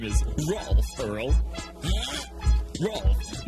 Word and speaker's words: Rolf: Rolf. My name is pronounced Rolf the Wolf, not.